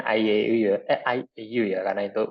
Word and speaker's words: IAU: Bacanya IAU ya.